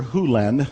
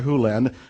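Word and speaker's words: Hew Len: and it's actually Dr Hulen I've shortened it from E to Dr land but it's actually Dr hulland if you want to say his name correctly and Doctor Who lens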